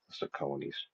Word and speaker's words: Sauconies: That's how you pronounce it. Sauconies.